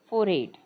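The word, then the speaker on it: forehead: फोरड लिहिलेल आहे ते जेव्हा आपण फास्ट वाचन करतो तेव्हा ते तसं वाचायचा आहे फोरेट फोर म त्याच उच्चारण फोरट अस येईल कपाळ हा इतका भाग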